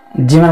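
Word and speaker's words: جيم: তো আসুন জিহ্বার মধ্যখানটা তালুতে লাগিয়ে আওয়াজটাকে শক্ত করে চার আলিপ পরিমাণ টেনে এবার হরফটা উচ্চারণ করব, আমরা হরফের নামের মস্ক করব। জিম, জিম, জিম।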